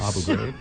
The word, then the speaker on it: Abu Ghraib: I do have that in my little It's like the Abu Ghraib prison, or the how do you pronounce that? The Abu Ghraib? Yes. Abu Ghraib.